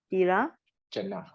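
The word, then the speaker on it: tiracchāna: Animal is called Tira. Chana. Tirachana. It's a long A here.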